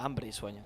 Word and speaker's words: Hambre Sueño: Yeah, Hambre Sueño. Don't pronounce it like an American.